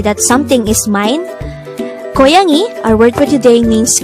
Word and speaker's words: 고양이: Word Number 43: GOYANG-I GOYANG-I is the korean term for CAT. the word GOYANG-I could be divided into three syllables GO, YANG, I.